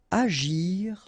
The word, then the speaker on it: agir: Agir en. Okay, remember when we've got G and after that we've got I, it's really like J.